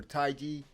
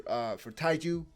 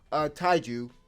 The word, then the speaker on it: Taiju: Senku has been preparing all this time for Taiji, for Taiju. Apologies, I just realized I was mispronouncing his name. Taiju, while surviving on his own for months, right?